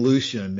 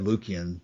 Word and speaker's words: Lucian: Martin, have you read much of no, I've been saying Lucian and Don said Lucian. Either six of one, half dozen of another. That's. I reserved the hard C for Lucan.